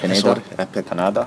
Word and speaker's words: Pineda: Let's talk about the fight with Daniel Pineda. That's how you pronounce his name. Pineda.